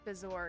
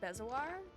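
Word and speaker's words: bezoar: It's also interesting to hear that pronounced bizour because I've heard it I've always heard it pronounced bezoir.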